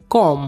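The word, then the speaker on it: comb: बोलते हैं को आप इसमें हम साइलेंट रहा है इसको बोलेंगे कॉम एक अंगूठी को इंग्लिश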